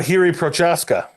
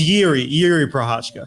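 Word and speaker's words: Jiří Procházka: single name on there what about hiri prasa that was close it's yi yi prashka I knew it I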